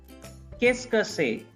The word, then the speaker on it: qu'est-ce que c'est: Actually, up to this is qu'est. Okay? Then this CE part is not pronounced. CE part is not pronounced. So qu'est-ce que, this part is que, and this part is say, S-A-Y, say.